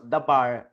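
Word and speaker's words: דבר: word sa Hebrew language DBR lang iyan it is pronounced as the bar pero DBR lang ang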